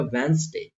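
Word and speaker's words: Wednesday: एन आ रहा है और अगर डी के बाद एन आ जाता है इसका मतलब हमें वहां पर डी को प्रोनाउंस नहीं करना है तो ये क्या हो जाएगा वेनसडे वेनसडे बोल के देखि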